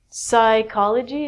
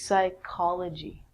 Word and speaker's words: psychology: So, psychology is the study of the mind. And actually, we say this like a K. So, this is psychology with the silent P.